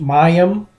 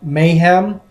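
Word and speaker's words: מַיִם: So the first one I'm going to look at is Hebrew word 4325, which is pronounced Mayim or Mayhem.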